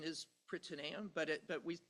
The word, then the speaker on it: Prytaneum: It's the platform that my lab is developing that uh that the correct pronunciation is pronamium but it but we say pranium.